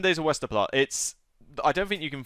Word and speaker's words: Westerplatte: Westerplatte? Not far off. I think the correct definition is Westerplatte or something like that. Westerplatte, there you go. All right. But 7 days of Westerplatte, I don't think you can find it anymore.